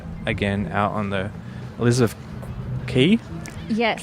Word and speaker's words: Quay: out on the Elizabeth key yes want to call it Quay Elizabeth Quay yes because of the way that it's spelled I think it's my